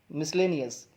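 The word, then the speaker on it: miscellaneous: जी हाँ, इसकी प्रोनाउंसिएशन क्या है? मिसलेनियस।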